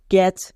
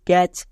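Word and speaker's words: catch: টি এখানে সাইলেন্ট কেন কারণ টি এর পরে সি এইচ থাকে টি সাইলেন্ট উচ্চারণ হয় না তাই এখানে টি সি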